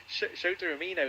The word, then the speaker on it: Shota Umino: Shota Umino, yes.